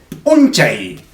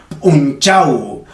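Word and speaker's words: p'unchay: Se dice unchay. Unchay. Ojo que no lo estoy pronunciando mal, porque en otras regiones lo van a decir unchau. Unchau. Cualquiera de los dos es válido.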